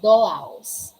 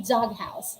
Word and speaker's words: doghouse: we have dog house we don't say dolos we say dog house we pronounce them separately why because they are